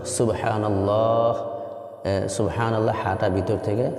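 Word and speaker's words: سبحان الله: যাচ্ছে তাসবিগুলি শুদ্ধ উচ্চারণ সুবহানাল্লাহ সুবহানাল্লাহ হাটা ভিতর থেকে হা লম্বা এরপরে যেটা আমি বলতে চাচ্ছি সেটা হচ্ছে সুবহানাল্লাহ বলার পরে শেষে হা উচ্চারণটা সঠিক হতে সুবহানাল্লাহ শেষে হায়ের উচ্চারণ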